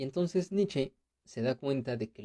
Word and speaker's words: Nietzsche: Y en alemán se pronuncia Nietzsche, no Nietzsche.